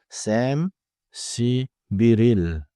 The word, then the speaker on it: 31일: 31일 is written 31일, 1일, and pronounced naturally as Sam-si-biril.